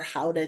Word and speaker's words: Gouda: In other countries like the Netherlands, they make, obviously a lot of Gouda cheese there, or Gouda cheese, depending on how you want to pronounce it.